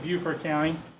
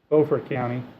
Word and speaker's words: Beaufort: If you look down here, in South Carolina they pronounce it Beaufort County. In North Carolina they actually have the same county, they call it Beaufort County.